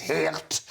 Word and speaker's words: Geert: Firstly, his name is Geert. So it is how you pronounce it.